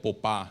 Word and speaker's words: Popa: And then after that, we retired Popa, rhymes with Opa, right?